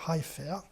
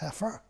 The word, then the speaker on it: heifer: Il disait Heifer, alors que ça se prononce Heifer.